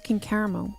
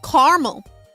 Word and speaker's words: caramel: When you guys say caramel instead of caramel. It's caramel. It's not car. It's not caramel.